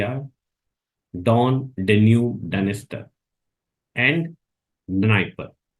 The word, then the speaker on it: Dnieper: And the rivers which enters into Black Sea are Don, Danube, Dniester, and Dnieper. D is silent, Dnieper.